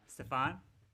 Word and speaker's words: Stefan: How is it pronounced? The second way. Stefan.